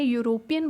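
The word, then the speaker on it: European: कैसे, जैसे मैंने बोला यूरोपियन, जब मैंने यूरोपियन बोला ना तो जो साउंड निकली वो य निकली है मेरी पहले, यूरोपियन।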